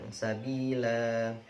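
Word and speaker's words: ٱلسَّبِيلَا۠: Jika dibaca dengan wakaf, ' la' dibaca panjang: sabila. Namun jika dibaca dengan wasl, 'la' dibaca pendek.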